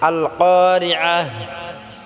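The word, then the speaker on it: القارعة: তা গোল তা টাকে হাকিন করে পড়তে হবে আল কারিয়া মালিয়া এরকম হবে তো প্রিয় বন্ধুরা আমার এখানে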